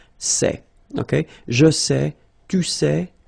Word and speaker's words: sait: Okay, so if you look carefully here, you write it S-A-I-S, well, the same way here. Here you write it S-A-I-T, okay, but then phonetically these three forms are the same, and it's sait, okay?